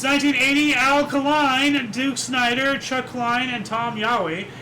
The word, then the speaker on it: Kaline: Uh it's 1980, Al Kaline, Duke Snider, Chuck Klein, and in Yawkey were inducted into the Baseball Hall of Fame. Is it alkaline like a type of chemical? Alkaline.